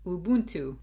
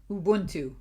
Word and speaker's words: Ubuntu: want to learn Ubuntu Ubuntu you better know I looked up how to pronounce Ubuntu Ubuntu Ubuntu Ubuntu U Ubuntu Ubuntu I keep saying Ubuntu